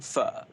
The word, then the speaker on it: Pho: So Zone has asked you, I'm assuming it's pronounced pho, Pho. Yeah, well, your favourite actually, in food. Vietnamese, you call it pho, like pho.